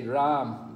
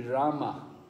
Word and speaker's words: Rama: Just like people say Ram, but it should be Rama.